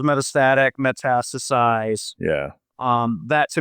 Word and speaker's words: metastatic: is it right um metastic I said it wrong sorry oh no it goes metastatic metastasize yeah um that